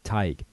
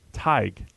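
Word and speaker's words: Tadhg: well now it's not what is it supposed to be you might know the right one what is it tight tight tight ta d h g yeah so there's a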